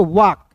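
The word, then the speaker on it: walk: डब्ल्यू ए एल के वाक। अब देखिए यहां पे वाल्क नहीं पढ़ेंगे। इसे पढ़ेंगे वाक। यहां पे एल जो है दोस्तों साइलेंट होगा। होता है।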